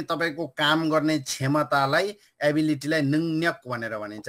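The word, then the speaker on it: 능력: काम गर्ने क्षमतालाई एबिलिटीलाई नङ्यक भनेर भनिन्छ लेख्दाखेरि चाहिँ नङ र्यक भयो भने यसको यसको उच्चारण चाहिँ नङ्यक गर्नुपर्छ नङ्यक हुन्छ यसको उच्चारण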